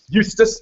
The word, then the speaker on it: Eustace: Eustace, there we go. Everyone has their own way of pronouncing their own name, and you're entitled to that.